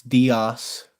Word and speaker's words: Diaz: Or Diaz, Arkansas. I keep forgetting how you pronounce it. It's Diaz.